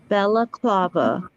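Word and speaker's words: balaclava: eyebrows now how do you say that again Bella Club Bella clava okay thank you that would make more sense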